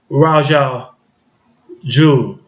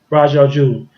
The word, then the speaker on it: Ra's al Ghul: I've never known Green Lantern, not Green Lantern, but Green Arrow to fight Ra's al Ghul, the Batman enemy.